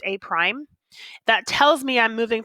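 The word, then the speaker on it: A′: and this one is a prime this is pronounced a prime that tells me I'm moving from figure one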